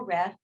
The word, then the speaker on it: Ryff: psychologist she's american psychologist her name is dr carol riff if you googled her her last name is spelled ryff she's done a lot